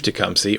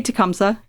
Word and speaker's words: Tecumseh: one of the things he said about Chief tumy or tumsa depending on how you pronounce it okay so it's supposed to be tumsa but anybody who lives here pronounces it wrong